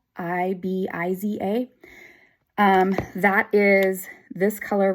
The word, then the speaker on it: Ibiza: shade of the month um I think it's pronounced Ibiza i b i z a um that is this color right here this